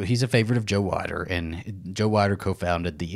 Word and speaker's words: Weider: a real favorite of joe white is that how you pronounce it it's whiter w-e-i-d-e-r we're gonna say water he is so he's a favorite of joe wider and joe weider co-founded